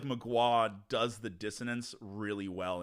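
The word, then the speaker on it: Mgła: It's Polish for fog. Oh, Magua. okay, It's how you pronounce it, Magua, like that, but it's MGLA is how you would spell it.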